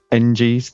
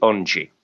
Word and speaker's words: Engie: it was always historically Engie, which, EN in French you pronounce on, don't you? But now, over the past year or so, that seems to have crept into their Engie now.